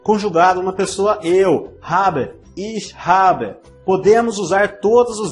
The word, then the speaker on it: ich: Note que o CH da palavra ich não é pronunciado como o CH em cachorro, é um pouco mais suave. Ich. Você fala o ish com a língua na ponta dos dentes. Ich e a boca um pouquinho aberta.